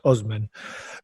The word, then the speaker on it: Usman: Well, to be fair, and you are correct in everything you just said, Usman has, or Usman, apparently it's pronounced Usman, but he's got Nigeria.